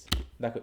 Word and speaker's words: though: একটু যদি আমরা বলি THOUGH, দেখো এটার উচ্চারণ কি? দো দৌ, দো তাই তো? আমি দৌ বললাম মনে করো, তাহলে এখানে আসছে সাউন্ড কয়টা? একটা হচ্ছে দ, দুইটা আর একটা হচ্ছে কি ও ও, ও দৌ। তিনটা।